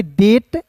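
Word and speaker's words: debt: तो देखिए दोस्तों यहां पे पढ़ेंगे डी ई बी टी को पढ़ेंगे डेट।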